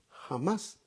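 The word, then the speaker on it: חמס: Se pronuncia en hebreo, violencia es jamás.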